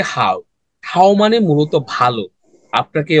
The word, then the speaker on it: 好: তাহলে এটার উচ্চারণটা কি হবে? 果憨好憨 হাও খান।